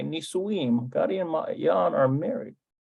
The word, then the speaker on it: נישואים: Nasuim. No. No, that's not it either. Nun Samik Vav. גדי ומעיין נישואים. Nisuim. גדי ומעיין נישואים. Nisuim. Okay, Nisuim.